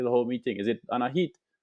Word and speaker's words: Anahit: whole meeting is it Anahit Anahit yes it is an Armenian name it's you pronounce it